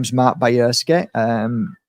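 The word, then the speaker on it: Bajrski: my name is Mark Bayers um b a j r s k i the J is pronounced Why by see my dad's happy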